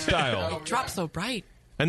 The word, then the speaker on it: Steil: It's pronounced Steil.